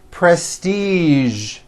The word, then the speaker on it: prestige: television very good now there are only a few words that have the voiced z sound at the end a few of these words are the color beige the word massage and the word Prestige okay now that you